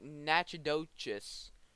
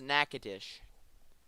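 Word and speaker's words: Natchitoches: county is going up yes it's nakadish it looks like nachodochis but it's nakatish i hate how they pronounce it but it's how it's pronounced so man this was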